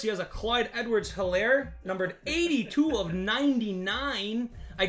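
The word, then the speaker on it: Edwards-Helaire: we go clyde edwards hilaire or ellier sorry the h is silent i've learned numbered 82 of 99.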